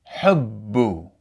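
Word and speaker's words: حُبُّ: And the haraka that's written is the damma, which is represented by the letter u. So, if we read this word from the Quoran, it would be pronounced hubbu.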